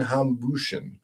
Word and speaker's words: Hambüchen: So, without further ado, we've got our friend of the of the business here, Fabian Hambüchen.